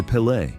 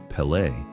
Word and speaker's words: Pelé: For Pelle, football wasn't just a pastime.